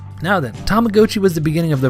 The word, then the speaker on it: Tamagotchi: I know they said Tamagotchi in the commercials, but it's a Japanese toy and Tamago means egg, like the egg shape of the toy, so I refuse to change my pronunciation. Now then, Tamagotchi was the beginning of